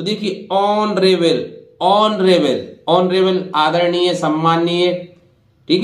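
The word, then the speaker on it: honourable: इसी तरह देखिए एच के बाद फिर ओ आ रहा है तो एच का उच्चारण यहां भी नहीं होगा, तो देखिए ऑनरेबल, ऑनरेबल, ऑनरेबल आदरणीय, सम्माननीय, ठीक है।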